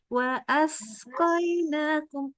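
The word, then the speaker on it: وَأَسْقَيْنَاكُمْ: Nah, asnya itu lebih nyaring lagi. Bunyinya harus nyaring. As. Jadi Gitu ya. dilamain ya sudah waas gitu Ya, ya. enggak. Bukan dilamain, tapi lebih nyaring bunyinya. Wa asqainakum as. Jadi cara nyaringinnya kayak kalau dulu tuh iklan Pepsodent. Gigi kita tuh rapat bener. Jadi dia bunyinya nyaring. Rapat. Gigi atas sama gigi bawah. As. Gitu. Jadi Waas, bunyinya nyaring.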